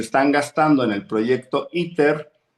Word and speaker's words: ITER: proyecto que estaban haciendo que se llama ITER, así como Ether, pero en inglés se pronunciaba ITER.